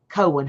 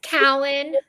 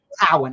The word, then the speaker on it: Cowan: so please welcome judge Cohen how are you and am I pronouncing your last name correct it's Cowen Cowan okay okay thank you